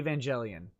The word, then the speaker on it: Evangelion: and you know i you cannot convince me that it's a hard g evangelion because it's based off of evangelize not evangelize i don't i won't take a hard g i it's a soft g evangelion i don't i don't